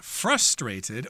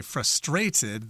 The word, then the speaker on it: frustrated: I think in England they tend to say frustrated. They put the accent on the second syllable in that word.